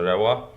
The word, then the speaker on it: Rewa: Reva, it's pronounced. Okay, so let me do that all over again. Have you ever been to Rewa? Ha, or Reva, actually.